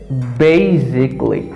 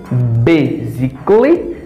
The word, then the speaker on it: basically: say basically basically always in this word the letter a is highlighted basically basically you see that button bagging basically don't say kohli this combination it's igly i clean lemonade game basically basically you see that don't say physically don't say basically basically basically basically say specifically